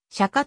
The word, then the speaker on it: Chaka: 赤いという意味本来は釈迦と発音するのが正しいようだが日本ではチャカで通っているカーンは最初の